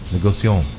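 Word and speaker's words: Négociant: don't Bray a NT don't pronounce the T de negocio negocio yes negocio because you're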